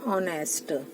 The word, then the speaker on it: honest: इसको honest नहीं read करेंगे बट बोलेंगे honest. तो HONEST, honest. H का प्रोनाउंस नहीं करना है, बोलना है ओनली honest. लिखना है H पर इसको हमें रीड करना नहीं है honest.